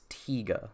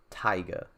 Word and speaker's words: Tiga: I think it's Tiga, right? Not Taiga.